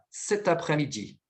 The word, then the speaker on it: cet après-midi: Você vai pronunciar com a devida ligação. Então, vai ficar cet après-midi.